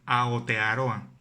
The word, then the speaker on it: Aotearoa: término correcto para referirnos a ese territorio es aotearoa así como lo escuchas aotearoa bueno si sites y comúnmente la sigue pronunciando y pronuncia mi provincia no te va